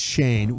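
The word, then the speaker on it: Schoen: Is it Shane or Shine? Shane. I think it's Shane. It's spelled like Shane. Shane. Yeah, it's Shane.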